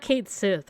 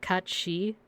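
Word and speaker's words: Cáit Sidhe: I forget how do you properly pronounce it's not Kate Sith, right? Like isn't it like Kat She? It's cuz it's Irish. I forgot. I forgot. Kat She? Nice. It's Irish. Yeah.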